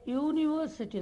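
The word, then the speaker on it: university: அதில் ஏ யூரோப்பியன் எப்படி உச்சரிக்கிறோம்? ஏ யூரோப்பியன். அப்போ ஏ யூனிவர்சிட்டி, நாட் யூனிவர்சிட்டி.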